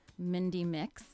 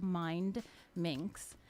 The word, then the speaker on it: Mindminx: went on air because a lot of people don't pronounce the d so they'll say or they'll say it's mindy mindy mix i'm like no mind it's two words together mind minks um so i could